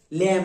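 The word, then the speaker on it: lamb: এমবি না এই দেখো তোমরা কিন্তু এখনো silent letter শেখনি ল্যাম very good ল্যাম হবে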